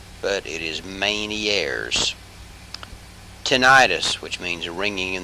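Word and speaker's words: Ménière's: airs disease it looks like it would be pronounced 'men ears but it is Manny Aires tinnitus which means ringing in the ears Val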